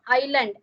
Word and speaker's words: island: Treasure Island. S is silent in island.